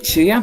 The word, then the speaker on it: Chuyan: like lean over to is it Chuyan? How do I pronounce that name? Chuyan, yeah. Chuyan, great.